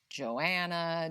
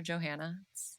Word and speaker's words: Johannah: lot of johanna's Joe Joanna Joanna Joanna stop calling me that um it's just two separate names Joe and Hannah put them together Johanna very simple um another